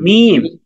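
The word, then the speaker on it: ميم: কি লাম লাম লাম আচ্ছা তারপরের হরফটা হচ্ছে মিম হরফটার নাম কি মিম মিম মিম মিম মিম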